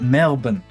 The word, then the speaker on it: Melbourne: It's not Melbourne. Melbourne is how Australians pronounce it. Melbourne is how I pronounce it because I pronounce my Rs and they don't.